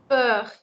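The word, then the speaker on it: beurre: Burr. So the R, last R should be pronounced the same way as the thoda scratch sa.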